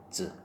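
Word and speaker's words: 八つ: 그러니까 이거를 그냥 야츠 이러면 안 돼. 야츠 그러면 안 되고 야츠 이런 식으로 발음을 해야 됩니다. 야츠.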